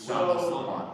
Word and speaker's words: Sawant: about, which is Councilwoman Sawant in Seattle, if I pronounced it right. It was Sawant, I think. Right, and this has to do with... Did I pronounce it right? Yeah, you did, and I think there